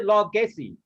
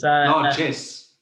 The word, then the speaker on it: largesse: Next time people are throwing things at me and giving me gifts, I say, stop the largesse. How do you pronounce it? Largesse.